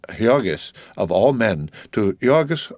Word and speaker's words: Jurgis: married and married to jurus pronounced hogus of all men to